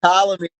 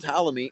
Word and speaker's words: Ptolemy: by Bran Nu and Ptolemy. It's a silent P. You'll never spell it right. It's PTLO. It's like the Ptolemy that was a builder, wasn't there?